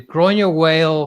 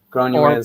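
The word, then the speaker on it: Granuaile: one of them so you gave me the pronunciation of this earlier gr whale castle Yeah gr whale Castle gra Al yeah she she was a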